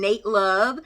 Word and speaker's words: Nat Love: had jonathan majors playing nate love spelled like nat love but apparently it is pronounced like nate we had zazzy beats